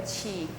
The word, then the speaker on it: qi: I hear people say he is not key it's Chi like a c h i rather so it's Chinese a different way of pronunciation so Chief simply means